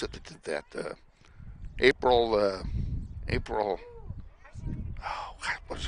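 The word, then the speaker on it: Abril: that did that uh April uh April oh what is her last name Lucio April Lucio okay okay her first name a b r i l oh she pronounces it like the month right I did not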